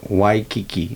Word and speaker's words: Waikiki: So Waikiki.